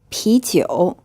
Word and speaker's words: 啤酒: 啤酒. This is pronounced in a second tone, then a third tone.